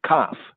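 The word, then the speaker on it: Kaph: One is hard K, or we call special K, Kof, and the other is regular K, Kaf.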